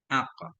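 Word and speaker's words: عك: Bacanya Ak. Dengan fatahin.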